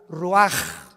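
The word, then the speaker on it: רוח: Roach así como suena se pronuncia la c en hebreo como J ruaj se le salló y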